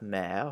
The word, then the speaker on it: mer: We have mer, where it makes an E sound.